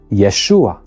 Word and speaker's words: Yeshua: modern Hebrew for example a short a vowel is added just before the final a to make sure it is pronounced that is why in modern Hebrew we say Yeshua now this weakening of